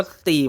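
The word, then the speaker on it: 四: กัน นั่น แหละ ครับ เลข 4 ใน ภาษา จีน แต้ จิ๋ว เอง ก็ ออก เสียง ว่า สี เหมือน กัน ครับ ดัง นั้น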